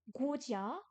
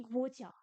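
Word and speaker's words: 国家: euh, Parce que là, du coup, il nous propose Guojia. Le mot pays s'écrit Guojia.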